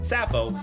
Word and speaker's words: Sappho: Ali Irman Zaidi, She Who Must Not Be Named, or Poco, rhymes with loco, and Sappho, like Laffo, Wallace.